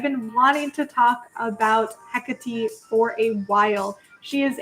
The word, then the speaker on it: Hekate: I pretty much figured out that the Greek pronunciation of the goddess is Hecate, so like Hecate. Though she actually appears in a lot of, in a certain Shakespearean play, and in that play, her name is pronounced differently as Hecate. But I've also heard a lot of neo-pagans call her Hekate, which is what I thought the pronunciation was, but I think in reality it's Hecate.